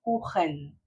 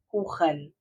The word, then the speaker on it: Kuchen: Sempre que o CH estiver depois de A, O e U, ele vai ter esse som aqui na garganta, ó. Kuchen, Kuchen. Então, como se fosse um gato irritado ali, sabe?